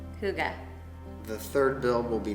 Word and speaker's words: hygge: So it's a Scandinavian Swedish word that's spelled Hygge, but pronounced Huga.